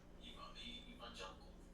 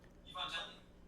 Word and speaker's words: Evangelion: Evangelical. Evangelion.